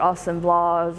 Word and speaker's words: assemblage: assemblage kind of surrealistic assemblage artist or austin blahs as you'll hear it pronounced he was from i